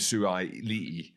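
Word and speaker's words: Suaalii: Joseph Suai-Li'i, I said it right again, and Ikitau, and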